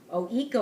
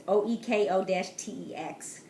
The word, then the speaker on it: OEKO-TEX: It's called OECO. I'm pronouncing that wrong. It's OEKO-TEX.